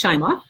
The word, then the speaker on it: Shimoff: bowl cup and then someone my girlfriend marci shimoff it's pronounced chimey thank you hey she gets that a lot